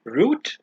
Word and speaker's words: route: way in the USA this is Root in British English and Route in American English interestingly enough in Pakistan when we talk about buses we say rout but when we talk about Wi-Fi devices we call them routers the reason behind that